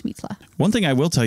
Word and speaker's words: Mitla: to tune into that it's probably pronounced mitla mitla mitla this an i sound as an e in Spanish mitla one thing I will